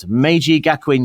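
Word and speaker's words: Meiji Gakuin: your university here, Michael, I've got Maji Gakwin University. Oh, that is correct.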